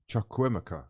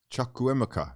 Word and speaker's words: Chukwuemeka: Chukwuemeka. Yes, my son. Okay, right. A little bit of practice makes perfect. Wait, what? I know. That is the way you pronounce it in Nigerian.